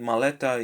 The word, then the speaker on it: maleta: So the second to last syllable usually receives the stress.